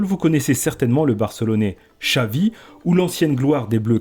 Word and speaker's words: Xavi: En basque ou en catalan, par exemple, le X se prononce ch. Pour les amateurs de football, vous connaissez certainement le barcelonais Xavi ou l'ancienne gloire des Bleus 98, Vicente Lizarazu.